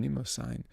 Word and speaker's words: Mnemosyne: He sang first to Mnemosyne. I have to pronounce her name, Mnemosyne, the mother of the muses.